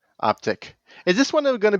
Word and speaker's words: Optiq: And they reiterated again, it's not Optique, it's Optiq. All these EVs with the IQ, it's Optiq. So it's Lyriq, Optiq, Vistiq. Then why do we have to make it a Q? Optiq.